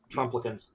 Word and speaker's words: Trumplicans: you, you, and you, Trumplicans. you It rhymes with supplicant, yeah.